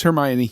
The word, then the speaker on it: Hermione: say Hermione, which is probably not how it's pronounced, but this is a post it's Hermione.